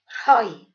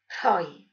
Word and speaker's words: rhoi: RH is pronounced r, not as in the words rhyme and rhythm, but far more pronounced. Try rhoi to give, rhoi.